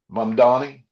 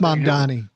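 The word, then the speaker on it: Mamdani: You better recognize that uh um um Manny. I can't It's Mom Donnie. I get I get people giving me saying you pronounced it wrong.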